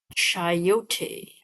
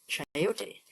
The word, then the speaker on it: chayote: How do we pronounce this? Chayote. Chayote.